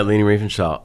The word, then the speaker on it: Leni Riefenstahl: Yeah, Leni Riefenstahl.